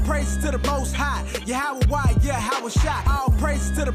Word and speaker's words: Yahawah: Now, depending on your form of Hebrew, you have some people pronounce it Yahweh. Another group pronounce it Yahuwah. We were taught Yahawah.